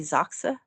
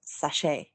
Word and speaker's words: Sachse: German last name uh and he changed the pronunciation and added an e at the end so like it would normally be zaka like and he added an e and decided